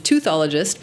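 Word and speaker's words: teuthologist: use the technical term, which is toothologist, because then they think you're a dentist. It's not spelled like you're thinking. It's T-E-U-T-H-ology.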